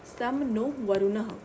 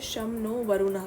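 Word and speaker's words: शं नो वरुणः: सम नो वरुणः। इसको pronounce करते हैं शम नो वरुणः की तरह।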